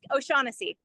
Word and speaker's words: O'Shaughnessy: We have lots of exciting guest speakers, including Kate O'Shaughnessy. Did I say it right? Close. O'Shaughnessy.